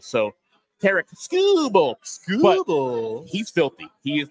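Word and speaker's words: Tarik Skubal: and Tariq scoel sorry I when I hear Tariq scoble and then I look at Tariq scoble you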